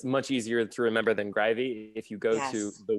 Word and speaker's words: Greiwe: c yep and then his last name is grivy and it's spelled the least intuitive you can think of it's g r e